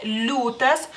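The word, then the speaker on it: liūtas: en este caso no la y no se pronuncia la l se hace más suave lutas lutas y este supongo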